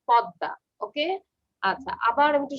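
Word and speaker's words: পদ্মা: Staple, not Padma, it's pronounced is Podda.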